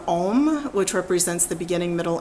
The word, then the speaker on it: Om: A-U-M makes the sound Om, which represents the beginning, middle, and end, and becomes a sacred syllable.